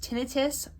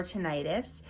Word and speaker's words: tinnitus: talk about the tinnitus tinnitus can be pronounced tinnitus or tinnitus it is the sound